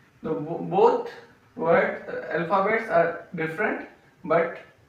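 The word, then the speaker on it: beau: The both word alphabets are different but pronunciation is same O. So we use E A U like bo B E A U.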